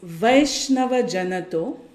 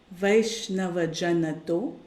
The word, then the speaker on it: Vaishnava Jana To: And I'll just give the pronunciation. It's Vaishnava Janato, Vaishnava Janato, Vaishnava Janato, Tene, Tene Kahiye, Tene Kahiye, J.